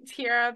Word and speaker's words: Tiara: supposed to be so they call me Tyra but it's spelled Tiara but my middle name is